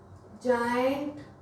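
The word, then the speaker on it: giant: पहला तो हो गया GeM, gentle, giraffe, जायंट, fragile. देखिए इन सब में जी के बाद आई आ रहा है, हम उसको ज प्रोनाउंस कर रहे हैं, जायंट, जिराफ। गिराफ नहीं बोल रहे हैं, गाइंट नहीं बोल रहे हैं,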